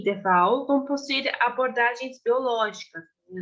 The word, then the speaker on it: Waal: Eu vou focar, então, para essa apresentação, principalmente em três autores, sendo eles David Hume, Charles Darwin e Franz de Waal, que recentemente descobri que se pronuncia Waal, que é muito bom de saber, né?